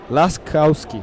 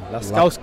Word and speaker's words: Laskowski: I'm trying to figure out how to pronounce Lasowski's name. Not the best with Polish names. It's Laskowski. Laskowski.